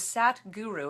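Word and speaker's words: Sadhguru: His name is Sat Guru. It's spelled S-A-D as in sad, which is really funny. H in the middle, and then guru.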